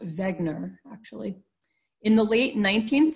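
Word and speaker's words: Wegener: you have this guy Alfred Wagner although it might be pronounced Vagner actually in the late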